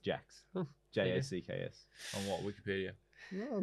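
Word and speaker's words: Jaques: It was one that said pronounced Jacks.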